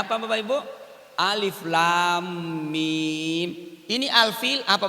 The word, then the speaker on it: Alif Lam Mim: Alif lam mim. Ini alfil apa bacanya?